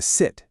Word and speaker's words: 四: Su, meaning 4, uses the 4th tone. It falls sharply. Say it like you're angrily telling a dog to sit. Si.